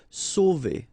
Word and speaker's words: sauver: Okay, remember when you combine A and U, you get the sound O. So really like the letter O. Okay, so sauver, sauver.